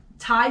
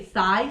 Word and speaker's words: Thai: And they went on, if he would go on a date, he would, instead of saying Thai food, he would say thigh food.